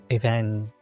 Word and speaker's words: Evangelista: Evangelista. Since that Y is pronounced like an I.